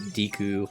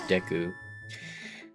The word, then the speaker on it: Deku: I used to pronounce it Deku when I was younger. But I have been made aware that the pronunciation of it is Deku. Because I believe that's what they say in Breath of the Wild and Tears of the Kingdom.